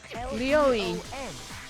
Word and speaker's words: Leon: L-E-O-N, or more accurately, Leon. You pronounced that very French.